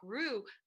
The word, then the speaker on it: Rue: So Allana Pratt, which I appreciate that because I'm Deborah Rue, and people are like, Rue, kangaroo.